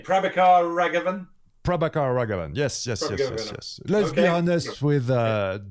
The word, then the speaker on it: Prabhakar Raghavan: Okay, and so how do you pronounce his name? Prabhakar Raghavan? Prabhakar Raghavan. Yes. Let's be honest with dear watcher. We practice a couple of times. Prabhakar Raghavan.